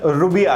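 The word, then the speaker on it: ரூபாய்: इसका तमिल प्रोनाउंसिएशन रुबिया है।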